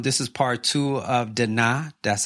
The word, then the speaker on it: Dinah: this episode um this is part two of daa that's how you we at first we used to say da Dina Dina Dina Dina but her name is Da